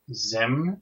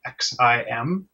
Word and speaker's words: XIM: of the week is and I'm guessing it's pronounced Zim it's actually xim um it's an app that's crossplatform made by